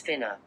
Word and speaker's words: finna: The correct pronunciation is finna, as in, me and my partners finna go to the stove.